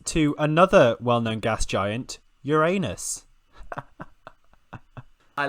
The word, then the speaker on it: Uranus: Anyway, yeah, so, and I believe the pronunciation now is accepted as Uranus, but it is a very large gas giant planet, and also very icy, we think.